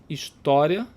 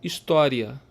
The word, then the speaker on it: história: que se fala, você, a pessoa pode falar história ou história, história, história, história, história. falar com o i e o a como se fosse uma sílaba só, ou o i e o a separado com uma força um pouco mais forte aí no nu separado do a.